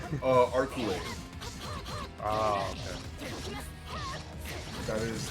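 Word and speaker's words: Arcueid: Sorry, I don't know how to pronounce her name. Arculate. Oh, okay. That is how you pronounce her name. Her name is Arculate.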